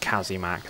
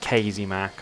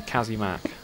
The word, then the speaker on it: KazzyMac: It is pronounced KazzyMac, not KazzyMac, or... there have been some very strange pronunciations of my name. All of them wrong, apart from the correct version, which is KazzyMac. So, you know, remember it. It's Kazzy, not Kazy.